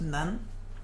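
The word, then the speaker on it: 南: Usually it just means south, the direction, and it's pronounced Nan. Bei is the direction north. And just don't worry about the other meanings, they're not important. Nan Bei.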